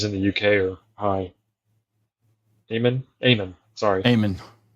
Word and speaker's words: Eamon: Eamon, sorry. Eamon. I think I it's pronounced that American. It's spelled in American Eamon, but it's pronounced in Irish Eamon.